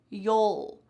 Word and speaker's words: you'll: You will becomes you'll. But in regular, fast conversational speed, we say you'll. You'll. You're almost swallowing the end of this word.